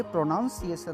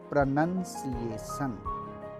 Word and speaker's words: pronunciation: ये प्रोनाउंसिएशन नहीं है। सही वर्ड क्या है? करेक्ट वर्ड क्या है? प्रोनाउंस सही है, प्रोनाउंसिंग सही है, प्रोनाउंस्ड सही है, लेकिन प्रोनाउंसिएशन इनकरेक्ट है। तो गाइस इसको बोलेंगे प्रोनंसिएशन।